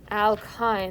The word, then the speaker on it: alkyne: know alkane alkene and alkyne and again you know your book you know new movies or they are talking too so it was like no this is rhymes with wine so kind of like